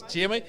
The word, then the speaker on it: Jamie: So it's not Jimmy, it's Jamie. Jamie.